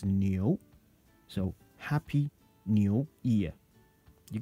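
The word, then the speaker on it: 牛: This character here, that's ox, and pronounced as new.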